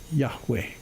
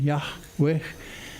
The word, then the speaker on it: Yahweh: Yahweh. That breathy sound at the end, Yahweh.